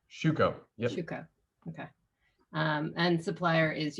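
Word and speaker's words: Schüco: brand which is uh sucho i'm mispronouncing that i'm sure shuco okay um and supplier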